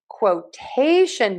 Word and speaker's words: quotation: you know that when we have a shun ending ti n, we are going to always stress the syllable right before the shun. And in this case, we are stressing the t syllables syllable, excuse me.